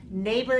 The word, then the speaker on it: neighbor: So this word neighbor is hard because it has some silent letters, like there are a lot of GHs in English which are no longer pronounced. Probably back in old English we heard a sound, but no sound here. So N-E-I-G-H, N-E-I-G-H, that part is hard.